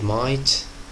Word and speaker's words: might: silent pay attention to the word might gh is silent pay attention to the